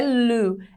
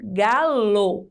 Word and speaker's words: galo: Então, por mais que às vezes eu falo galo, não é lu, é lo, galo, com a letra O, tá?